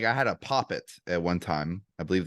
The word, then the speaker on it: poppet: Okay, yeah, I had a couple like I had a poppet at one time. I believe that's the pronunciation.